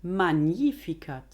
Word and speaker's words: Magnificat: Magnificat, magnificat.